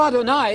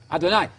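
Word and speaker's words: אֲדֹנָי: You know Adonai, it rhymes with El Shaddai, El Shad. You know it. Adonai.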